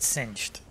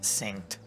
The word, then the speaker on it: synced: first played this game I actually thought it said singed I know now it's a it it's pronounced synced okay I I actually